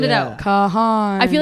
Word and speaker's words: Kahan: per Google I said how do you pronounce Noah Kahan and it's Kahan s is that how